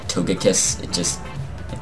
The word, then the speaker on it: Togekiss: apparently when you say when I say the soft G i trigger some people cuz it's supposed to be Togekiss but I feel like